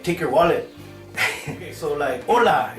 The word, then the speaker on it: hola: like take your wallet hola it's very important you just say H o la the H is silent right but you're gonna do